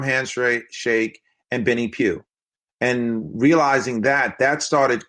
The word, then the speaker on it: Pough: a brand was because my last name is Pew and the way that it's spelled it's not natural for people to say Pew so I always in introduce myself as Benny Pew no matter what Benny